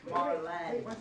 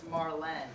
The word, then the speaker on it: Marlene: Often mispronounced, it's Marlene.